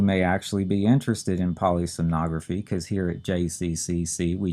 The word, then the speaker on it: polysomnography: kind of a tricky one to say and spell it's polysomnography polysomnography p o l y s o m n